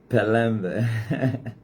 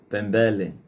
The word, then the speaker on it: Pelembe: Pela primeira vez pronunciei bem o teu nome, né? Pelembe. Antes eu pronunciava Pembele.